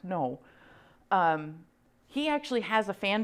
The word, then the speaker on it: Ng: And if they're a known artist, like this is an artist, his name's James, no, it's NG, but it's pronounced no.